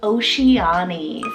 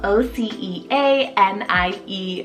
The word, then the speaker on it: Oceanie: O name here, guys, we have Oceanie. So O-C-E-A-N-I-E, Oceanie.